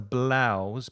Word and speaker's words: blouse: ladies wear is a blouse be careful I've got blouse on Lynn's wearing a lovely colorful flowery blouse it's the ow ow sound like now or cow wow and um a